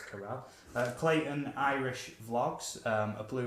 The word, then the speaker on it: Carell: It's not Carol, it's Carell.